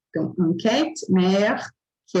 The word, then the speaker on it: mer: A pronúncia quando tem necessariamente o R final, e não é um verbo, como eu citei aqui em cima, a gente vai dizer como é o caso de mer, significa mar.